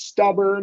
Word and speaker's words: stubborn: But in this case, it's stubborn. It comes at the end. That first syllable gets the stress. It's going to be a schwa.